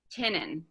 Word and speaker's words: Tynion: It's James Tynion.